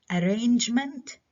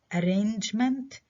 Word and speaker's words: arrangement: arrangement. arrangement برضو الستريس على المقطع هذا لأنه جاي بعده كلاستر اللي هو مين؟ نج.